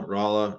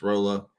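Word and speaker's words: Rolla: again this week I I think it's pronounced Rola Missouri I know that somebody's gonna yeah it's been both both ways uh but yeah Rola Raa it's Rola I've bet what we're going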